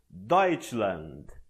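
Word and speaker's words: Deutschland: significa alemanha e abaixo colocarei o guia de pronúncia temos doit land note que se você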